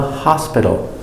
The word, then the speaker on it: hospital: In the hospital. Ha. Hos. Hosp. Hospid. Hospid. Hospital. Hospital. Remember, hospital, the T between two vowels, it makes the D.